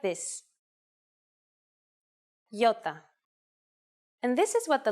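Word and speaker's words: ιώτα: is a vowel that you may have heard called iota in Greek though it is called Yota and it makes the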